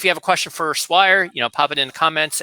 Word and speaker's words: Swire: My name is not hard to pronounce after you know how to pronounce it. It's just Swire.